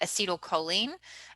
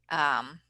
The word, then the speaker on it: acetylcholine: Now, I pronounce it acetylcholine. Some people pronounce it acetylcholine. I say acetylcholine. That's just how I learned it.